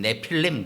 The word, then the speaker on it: 네필림: 이 네피림이라고 하는 이 존재, 사실은 우리가 한글로 네피림 그렇지만 원래 원 발음하면 네필림 그래야 되거든요. 리을 발음이 들어갑니다.